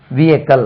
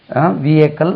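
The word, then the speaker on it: vehicle: traffic but இட் இஸ் வெஹிக்கிள் அது வெஹிக்கிள் அல்ல விஹக்கல் அல்லது விகிக்கள் right we bought வெகிக்கிள் yesterday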